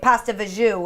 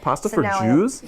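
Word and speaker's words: pasta fagioli: is my favorite but I say it wrong because my dad used to say pasta Vu and my mom was like that's not how you say it pasta for JE yeah pasta for Jew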